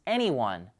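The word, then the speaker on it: e:Ny1: Here's a look at the prototype, whose name we think is pronounced Anyone.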